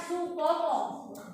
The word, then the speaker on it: Soepomo: Bacanya Supomo. Soe itu tulisan zaman dulu. Soekarno bacanya Soekarno. Soepomo bacanya Supomo.